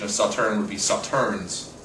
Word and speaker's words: Sauternes: of Saturn would be Saturns where you just chop the S same thing with suitor